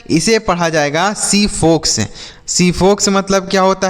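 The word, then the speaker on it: xiphos: जीपोक्स। क्या इसे हम जीपोक्स पढ़ेंगे? नहीं। अब यहां पर जो एक्स का उच्चारण है बच्चों, वह स के रूप में होगा। तो इसे हम पढ़ेंगे सीपोक्स। क्या पढ़ेंगे? सीफोक्स।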